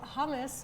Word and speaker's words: hummus: So hummus, which is pronounced hummus in Arabic, is low in saturated fat, very high in fiber and protein.